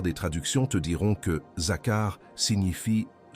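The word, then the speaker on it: זכר: Prononce ce mot à voix basse. Zakar. 2 syllabes.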